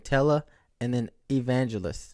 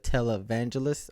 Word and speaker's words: televangelist: it wrong mad wrong I was saying tella and then Evangelos instead of televangelist I was at night